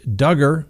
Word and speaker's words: Duggar: to believe and then josh duggar rhymes with hugger that's right he had